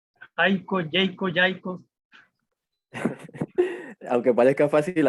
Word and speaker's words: Jaiko: Siempre me dijeron Jayco, la A la pronuncia por la E, Jayco siempre, y yo